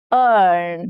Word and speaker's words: earn: Next is earn. Now here e a r becomes earn. The same sound as heard. Okay.